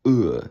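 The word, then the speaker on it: Ө: It's going to be called uh or the barred uh when a horizontal line or bar is added to it.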